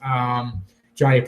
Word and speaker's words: Jhonny: a Stephen Piscotty perhaps Jhonny Peralta the silent h there I don't mind